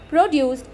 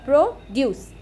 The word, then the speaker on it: produce: In words that function both as noun and verb, the first syllable of the word is stressed when it is a noun and the second syllable is stressed when it is a verb.